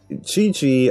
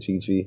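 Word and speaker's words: Qiqi: know whatever also um somebody told me that you suppose that the q's you're supposed to pronounce it as che i don't know if they're telling the truth or not i look it up and it kind of sounds right so it's kiching and chichi oh i was saying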